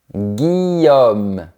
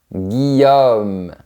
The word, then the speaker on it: Guillaume: Dans le sud, on dit Guillaume, mais à Paris, on dit Guillaume. C'est un son plus fermé à la fin. Je préfère le son plus ouvert, Guillaume.